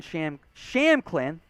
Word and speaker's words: Shampklin: Malik Davis, Rico Dowdle, and Aaron Shampklin, P in his name, no pronunciation there, the P is silent.